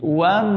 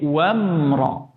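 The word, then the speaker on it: وامرأته: Mim sukun biasanya ada pantulan juga tanpa disadari. Wam. Nah, itu dibuang. Tapi wamra.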